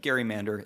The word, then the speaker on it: gerrymander: I'm going to call all of them gerrymanders, and I'm going to use the historically accurate pronunciation of gerrymander.